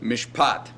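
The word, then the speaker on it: משפט: So you have the long vowel in the accented syllable, mishpat. Now, what's this schwa doing here? The answer? Absolutely nothing.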